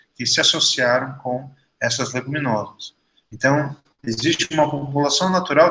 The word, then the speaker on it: Leguminosae: chama leguminosa no passado, Leguminosae se escreve, mas a gente pronuncia leguminosa. Esse grupo de plantas, elas